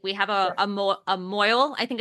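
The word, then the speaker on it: mohel: have a a mo Mo I think it's pron how it's pronounced m o h e l but it's pronounced Mo um have a mo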